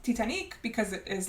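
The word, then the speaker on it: Titanique: on board the Titanic that is why it's pronounced tianic because it is like Selena saying it and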